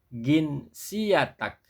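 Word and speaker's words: جنسيتك: Jadi kalau jim itu dibaca ga. Maka ketika bertanya tentang kewarganegaraan dalam bahasa pasaran Mesir apa? Ginsiyatak ginsiyatak ginsiyatak ginsiyatak Nah, kalau dalam bahasa pasaran Saudi apa?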